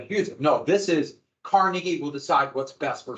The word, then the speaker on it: Carnegie: go to free University but the big thing Carnegie would do after he sold Carnegie still yes it's not Carnegie it's Carnegie I